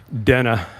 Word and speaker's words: Dana: uh kamla Harris mispronounced Dena bash's name and she always had to pause before saying Dena because her natural inclination was say Dana but what I struck